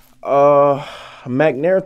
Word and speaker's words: McNair: McNair Middle, like Ronald McNair.